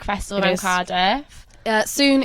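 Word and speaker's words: sŵn: soon is the Welsh word for sound. So it's spelled SW with a little hat N.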